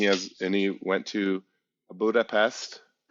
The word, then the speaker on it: Budapest: and he went to Budapest that's how you say it in Hungarian PES Hungarian is one of